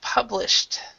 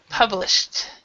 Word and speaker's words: published: we actually pronounce it published so so this Ed here is more of a t sound published publish yeah all right